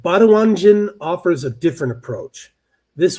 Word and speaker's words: Baduanjin: All right, Baduanjin offers a different approach. This widely and I'm going to spell it here, b a d u a n j i n, Baduanjin.